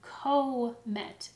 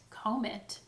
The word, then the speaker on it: comet: consonant sound in between, we actually try to divide it before the consonant first. Now this again creates an open syllable where the vowel sound is long. Comet, comet. That is not a word.